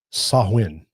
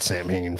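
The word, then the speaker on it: Samhain: ancient Celtic Festival of sawin sawin I always said Sam H for the longest time but you know it's not the right way to say it sawin a pagan religious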